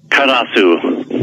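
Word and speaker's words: カラス: Karasu.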